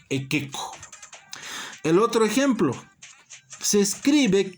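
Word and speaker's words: iqiqu: Por ejemplo, la palabra ekeko se escribe ikiku, pero se pronuncia ekeko.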